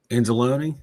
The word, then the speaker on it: Anzalone: How do you pronounce the last name? Anzalone? Anzalone.